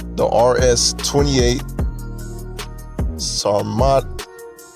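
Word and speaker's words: Sarmat: - the RS 28 saw mod that's how you say it's not matte it's a russian liquid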